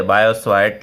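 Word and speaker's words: Biot–Savart: ठीक है, वैसे टी यहाँ पर साइलेंट होता है। ठीक है, बायोट-सवार्ट लॉ इसको बोला जाता है।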